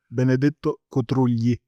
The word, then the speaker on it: Benedetto Cotrugli: of Trade by, I might mispronounce this name, Benedetto Cotrugli. Is that right? Could you Cotrugli, pronounce this yes. name for me? Benedetto Cotrugli.